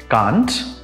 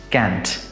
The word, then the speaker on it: can't: would like to mention the short form of cannot is pronounced in two ways kant which is the british pronunciation and can't which is the american pronunciation let me repeat that